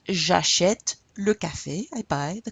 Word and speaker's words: j'achète: So this is pronounced j'achète, j'achète. You hear the j'achète.